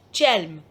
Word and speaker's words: Chelm: But in this third chapter, the elders of Chelm, this is the pronunciation of this Chelm, you will find some different story.